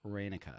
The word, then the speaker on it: Reyneke: Reyneke. Reyneke. So pronounce all the E's as A's. It's Dutch.